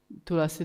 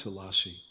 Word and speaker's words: Tulsi: Tulsi Devi árnyékára nem lenne jó rálépni. It's pronounced Tulsi, not Tulasi.